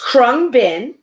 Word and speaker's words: Khruangbin: i may go on it's krung bin which which literally means flying engine or airplane in thai um it's an american this band krung bin is an american musical